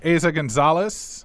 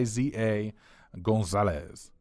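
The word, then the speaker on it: Eiza González: we got a next on the John Hammond ASA Gonzales I think that I you pronounce her name it's a Iza Gonzales and she has actually not been in a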